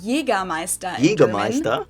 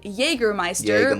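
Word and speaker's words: Jägermeister: From shoes to alcohol, this is pronounced Jaegermeister. Jaegermeister. English speakers usually say Jaegermeister, which is pretty much the same, just with a pretty thick accent.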